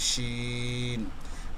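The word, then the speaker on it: شين: আমি যদি এখানে কোনো নোক্তা বা চিহ্ন বা ফোঁটা না দেই তখন এই বর্ণটির নাম হবে সিন। সিন। আর যদি আমি 3টি নোক্তা দিয়ে দিই উপরে তখন হয়ে যাবে শিন।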